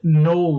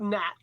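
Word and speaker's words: gnoll: left it's the uh null raid did i say that right g-n-o-l-l is it granola like a cannoli i don't know i think it's like nat you know the g is silent maybe all right so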